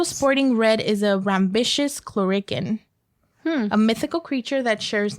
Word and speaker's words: Clurichaun: Also sporting red is a rambitious chlorican.